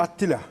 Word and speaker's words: Attila: Hocam Atilla'nın telaffuzu nedir? Tam ismi Attila diye çipte çiptei ve bun Attila ilan doğru yani.